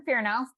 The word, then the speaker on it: Fearnow: totally agree totally agree so okay so jason fear now um fear now which is kind of interesting